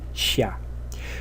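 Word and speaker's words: 下: things that are below the ground, and it's pronounced xia.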